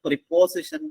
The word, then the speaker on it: preposition: Next പ്രപ്പസിഷൻ എന്നാണ് ശരിക്കും ഉച്ചാരണം.